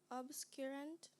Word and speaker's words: obscurant: Romesia, your word is obscurant. May I have the definition, please? One who covers or hides from view, one who conceals. Can you repeat the word, please? Obscurant. Obscurant.